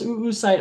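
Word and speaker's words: oocyte: Um, this is also what contains the oo site. Yes, it is pronounced oo site.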